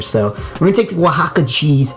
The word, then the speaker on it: Oaxaca: So we're gonna take the Oaxaca cheese.